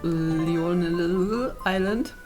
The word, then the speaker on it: Lionel Island: begeben wir uns nach Lionel Island. Genau so heißt es. Genau so spricht man es aus.